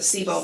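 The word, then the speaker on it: CISO: question the seil cyel I pronounce it SEO but I may be C or SE depends on whether you're from Ohio or not I'm from Michigan so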